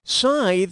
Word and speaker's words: scythe: Scythe rhymes with tithe.